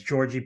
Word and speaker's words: Đorđe: It was almost like a J sound at the beginning. Yeah, the like Serbian D with the bar is a DJ. It's a DJ. So yeah, it's Đorđe Petrović, I believe.